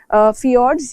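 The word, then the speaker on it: fjord: उनको कहा जाता है फियोर्ड्स, या इसकी स्पेलिंग में जे ऐड होता है बट वो प्रोनाउंस जनरली नहीं होता, फियोर्ड कहते हैं इसको।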